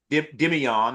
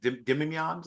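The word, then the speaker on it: Demeioun: happens a lot draft time because Chop was also listed as Dimion, I believe. Dimion, I think that his name is pronounced.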